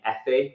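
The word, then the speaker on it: Aoife: like half Irish um there's the name e which is spelled AO I Fe it's like an Irish name right so like i'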